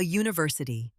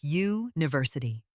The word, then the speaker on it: university: But we say a university, not an university. Why? Because it sounds like university. That Y sound at the beginning means we use a, not an.